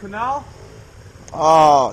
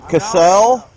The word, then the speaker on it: Cassell: How do you say your last name? Canal? Cassell? I'll go with Cassell. Cassell? Yeah. Cassell.